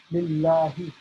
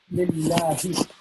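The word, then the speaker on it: لله: So this H here in Lillahi is regular H. H for horse, Henry, etc. Lillahi. Not Lillahi or Lillahi, nothing like that. Lillahi. So Alhamdu Lillahi.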